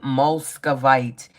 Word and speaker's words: Muscovite: Muscovite. Not Moldavite, but Muscovite, okay? They get mixed up with the pronunciation.